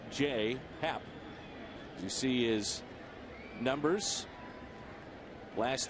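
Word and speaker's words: J. A. Happ: career against the Cardinals first name is spelled j-a but pronounced J Happ you see his numbers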